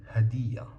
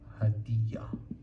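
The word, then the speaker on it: هدية: And one more example, we have hadiya hadiya which means gift.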